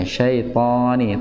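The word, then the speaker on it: الشيطان: Ya, syaitani. To-nya juga sama. Nggak boleh hanya ngebuka saja. Poni, tidak memonyongkan bibir. Syaitani, enggak, tapi poni. Jadi yang tebal itu karena pangkal lidah yang naik.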